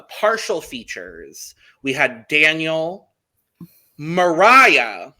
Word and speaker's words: Mariah: features we had daniel mariah which i would have never guessed that's how you say her name either but i will be remembering like mariah carey that's how i'm gonna remember it personally um so it